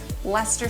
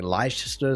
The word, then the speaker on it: Leicester: maybe but come on surely everyone's heard of leicester square i mean maybe in america you don't really hear that british pronunciation too much because i certainly know that in australia we get a whole bunch of british influence i mean to be honest australia has a whole bundle of places that no one else would probably be able to pronounce either but no lie sister it just sounds wrong leicester square there's also